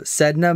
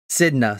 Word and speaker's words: Sedna: So Sedna, Mother of the Deep. Sidna, sorry, Sidna. I should read. It's got it's phonetically spelled on the bottom.